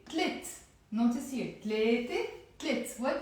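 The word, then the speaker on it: تلات: But then I say tlit. Notice here, tlete, tlit. What did I do? I dropped the te marbuta and the a sound. Tlete becomes tlit, one syllable.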